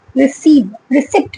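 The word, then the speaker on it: receipt: Export करेंगे उसका इनको रिसिप्ट मिलेगा। ठीक है, P is silent here, ठीक है, तो फॉरेन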